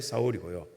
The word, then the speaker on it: 사울: 여러분 받았으면 좋겠다 싶은데 사울은 이스라엘 언어인 히브리어로 발음할 때 사울이고요. 그리고 바울은 그리스, 헬라어로 발음할 때 바울로, 파울로스 이렇게 발음할 때 바울 똑같은 이름입니다.